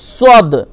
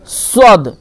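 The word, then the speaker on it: ص: আর তারপর দেখেন সিন আর সদ, সিন, সদ, এগুলো উচ্চারণ প্রায় একই রকম, শুধু পুর মানে মোটা আর হচ্ছে বারিক পাতলা, এর পার্থক্য। সদ এটা পুর হবে, মোটা হবে, এবং সিন বারিক হবে, ঠিক আছে?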